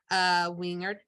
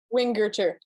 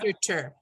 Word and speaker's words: Wingerter: about himself is Wingert. Oh, I always pronounce your last name wrong. Do you need me to help you? Yes. Wingerter. Thank you. right. Wingerter. I have to remember German. Hard G.